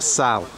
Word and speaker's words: Salt: and we're going into this uh town it's pronounced sal you don't pronounce the tea it's not salt it's south and this is the area where